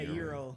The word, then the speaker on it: gyros: Is it euro? Yeah, it's pronounced euro.